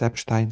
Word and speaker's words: Epstein: So, yes, it's Epstein like Einstein. The writing is the same.